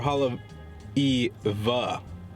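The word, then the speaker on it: Haleʻiwa: that'd be sick so it's either Haleiwa or Hollow e v I've noticed that they kind of pronounce the W's like V's here like they kind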